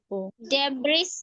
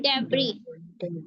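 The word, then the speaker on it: debris: एप्रोपोज नहीं appro एप्रोपो डेबिस नहीं डेबरी डेबरी बोग बोर्गई क्या है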